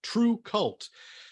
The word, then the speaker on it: TRVE KVLT: one coming wednesday uh true cult so my first question actually is i'm am i pronouncing it correctly or is there some kind of great heavy metal pronunciation i'm totally missing like you know you got it we were we've been collecting the odd uh pronunciations but you got it right it's our fault for